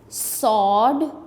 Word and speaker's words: sword: Sword, sword में W जो है ये silent है.